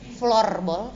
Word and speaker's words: floorball: Floorball atau floorball? Floorball. Floorball. FLOOR. Iya. Bukan FLUR. Bukan.